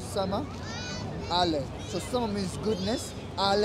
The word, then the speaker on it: Somali: What you don't understand is, the word Somali comes from Somalia, and Somali comes with two syllables, which is Sama, Ale.